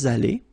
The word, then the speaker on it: allés: Nous sommes allés. You don't pronounce it. Okay, but you write it.